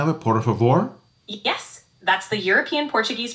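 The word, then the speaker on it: por favor: Porav is how you say please. Easy and very handy. Now is that is the European Portuguese pronunciation of it. Poravore.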